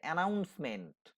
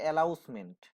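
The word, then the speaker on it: announcement: যেমন ধরো, একটা শব্দ আছে অ্যানাউন্সমেন্ট, আমরা ট্রেনে যখন যাই অ্যানাউন্সমেন্ট শুনতে পাই, কিন্তু অনেক জায়গায় অনেক উচ্চারণ করে অ্যালাউসমেন্ট।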